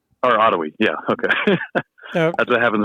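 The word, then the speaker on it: Otowi: talk and that uh that house at a towie bridge right there that um by the way that's uh pronounced ottawi or ottawi yeah okay that's what happens when i'm only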